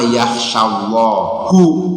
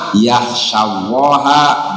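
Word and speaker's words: يَخْشَى اللَّهَ: Innama yaksyallahu. Dibacanya hu kan ya jadi fail. Harusnya dibaca innama yahsyallaha min ibadiihil ulamau.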